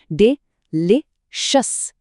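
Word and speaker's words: delicious: और हां, इस नए वर्ड डिलीशियस का प्रोनाउंसिएशन ध्यान से सुनिए। डे ले शस।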